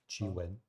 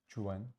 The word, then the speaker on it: Qwen: Qwen. Chuan, sorry.